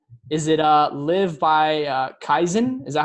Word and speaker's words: Kaizen: Is it live by Kaizen? Is that how you pronounce it? Yeah, Kaizen.